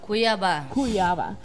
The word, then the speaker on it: Cuiabá: ¿Cómo se pronuncia? Cuiabá.